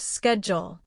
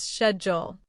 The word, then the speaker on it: schedule: Take the word schedule. In American English, it's pronounced schedule, while in British English, it's often said as schedule.